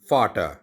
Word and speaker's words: Vater: फादर is called फाटर। फाटर, German में वी को एफ की तरह प्रोनाउंस किया जाता है।